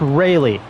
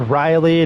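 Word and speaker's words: Raley: to say his name Luke Ry not Luke Riley not Luke Riley Luke Ry leading things off for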